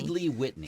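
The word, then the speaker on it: Headley-Whitney: That is I never know how to pronounce this. Is it Headley Whitney or Headley Whitney? Headley Whitney.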